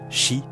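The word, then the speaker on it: し: De plus, sa prononciation en japonais, shi, signifie la même chose que le mot mort.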